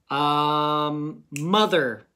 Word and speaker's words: mother: Mother. Okay, pause it and try. Were you right? What's the tricky part of this word? That O kind of makes a short U sound. Right? But it's an O.